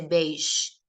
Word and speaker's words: beige: Usted no dice beige, sino que dice beish. O sea, que está conservando la pronunciación del inglés y esto sigue siendo extranjerismo.